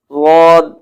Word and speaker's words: ضاد: زبان لگے تو پھر لفظ ضاد میں جیسے ادا کر رہا ہوں ضاد، تو اس طرح یہ اس کا صحیح تلفظ ادا ہوگا۔ باقی بعض حضرات کہتے ہیں کہ ضاد پڑھنا چاہیے یعنی دال پڑھنا چاہیے، بعض کہتے